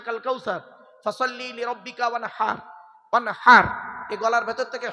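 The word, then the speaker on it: وَانْحَرْ: ওয়ানহার এই গলার ভেতর থেকে হে এটা উচ্চারণ করবে না, হাই হুটি, হাই হাওয়াজ নয়।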